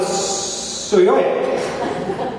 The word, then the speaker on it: Psihoyos: As he says, you drop the P and the rest rhymes with Sequoia, and you come out with Psihoyos.